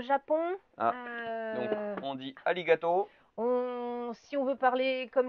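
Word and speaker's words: ありがとう: Ah, donc on dit arigato. Si on veut parler comme les Japonais, le R se prononce L, donc on va dire arigato, qui veut dire merci en japonais.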